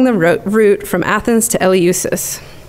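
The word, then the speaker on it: Eleusis: he lived along the route from Athens to El usus it's pronounced El usus if you Google it there's a nice YouTube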